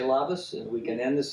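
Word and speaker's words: labas: a departure and that that is said is lavas and it's spelled l-a-b-a-s and you want to say lavas and we can end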